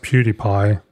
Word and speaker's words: PewDiePie: what I was thinking at all but it's pronounced PewDiePie so I don't know okay I just I